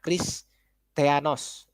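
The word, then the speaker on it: Χριστιανός: Nah, ini ya Kristianos ya, sebutannya pelafalannya Kristianos ya.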